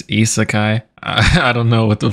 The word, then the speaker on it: Isekai: a dickhead when I say this, but it's Isekai. I don't know what the fuck Isaki is. I don't want to seem like that dickhead ass nigga, but it's Isekai.